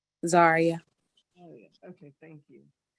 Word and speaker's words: Zaria: Zaria.